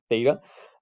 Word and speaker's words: theta: what we call your reference angle it's it's pronounced theta um i think this is nice i'm not